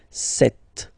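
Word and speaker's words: sept: doesn't exist so you got this set sound set set okay then here final T is pronounced so we remember in French this ash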